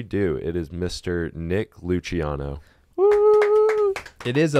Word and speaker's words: Luciano: Nick Luciano. Woo! It is a Luch. It is. Not loose. That's the like Italian pronunciation.